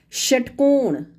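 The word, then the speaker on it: षट्कोण: This sh is written differently but pronounced same as talavya sh. For example, shatkon, shatkon.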